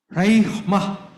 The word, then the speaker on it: rhema: Dalam bahasa Yunani ya, pronunciation-nya raihmah.